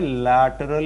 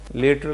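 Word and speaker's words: lateral: एक कॉन्सेप्ट होता है लैटरल इन्वर्जन. लेटरल नहीं, it's pronounced लैटरल. Okay, sooner और लैटर बोलते हैं, एक्चुअली लेटर नहीं बोलते.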